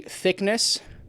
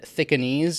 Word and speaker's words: Thicknesse: Alexander Volkanovski representing Colby Thicknesse. I think I said Thicknesse in my prediction video. It's pronounced Thickness, apparently, versus Aleksandre Topuria.